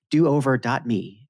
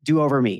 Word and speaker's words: do over dot me: do over dot me do over me is that the right way to say cynthia do over me it's do over dot me dan that's the official name of the company and it's not exactly a